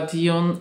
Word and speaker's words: Dune: jak to się czyta pisze się Dune czyta się chyba diun i ja kiedyś oglądałam